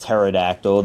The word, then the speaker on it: pterodactyl: I know it's pronounced pterodactyl. The P is silent.